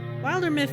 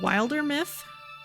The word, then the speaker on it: Wildermyth: screen here looks good is the Eye short or long in Wilder myth I've always pronounced it that way keeping wild as the word that it is and going from there that always sounded